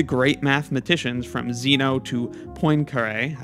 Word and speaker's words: Poincaré: Mathematicians from Zeno to Poincaré. I just looked up that pronunciation. It's something like that, at least for someone who doesn't want to go hard on the French pronunciation.